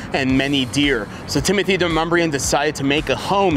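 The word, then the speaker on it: Demonbreun: You may be on Google Maps and it pronounces it Demon Bruin, but it's actually de Mumbrien.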